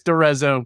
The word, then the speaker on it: D'Arezzo: I'm the host of the program, and today I am joined by DeRizzo. Did I get that pronunciation right? You know what? You good enough, close enough. It's DeRizzo.